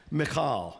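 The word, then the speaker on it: Michal: is to say Jerusalem notice Macau is how you'd say her name in Hebrew but I don't want to hurt myself so I'm just gonna call her Michael from now on okay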